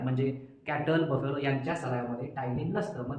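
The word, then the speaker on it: ptyalin: काय प्रेझट असत तर टायलीन नावाचा एक एन्झाईम प्रेझट असतो टायलीन बघा पीटी वाय त्याचा स्पेलिंग अस आहे टायलीन हा एन्झाईम रुमिनंट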